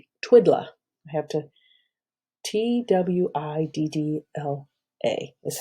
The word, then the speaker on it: Twiddla: that is referred to as what is called Twiddla. I have to, TWIDDLA is how it's spelled.